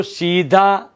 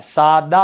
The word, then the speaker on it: सादा: अब जैसा शब्द लिखा देखो, सीधा, साधा नहीं होता है, सादा होता है।